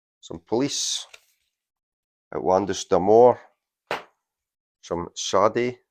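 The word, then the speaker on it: Sade: police atlandis deore some shade so you see it pronounce it shy shy and another one that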